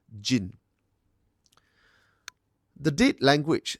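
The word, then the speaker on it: 人: The earlier borrowing reads it as nin, while the Tang borrowing, the later one, reads it as jin.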